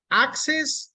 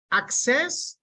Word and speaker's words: access: letters good okay so capital letter indicates where the stress is access if it's a noun if it's a noun the stress goes in the first part access if it's a verb